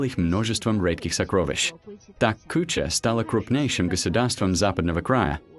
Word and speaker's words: Куча: Древнее название звучало как Кюсина. В процессе тысячелетних фонетических изменений произношение постепенно превратилось в Куча.